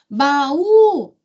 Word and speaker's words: baú: Se eu falo assim, ó, baú, baú, chama a palavra. Baú, sílaba tônica, U.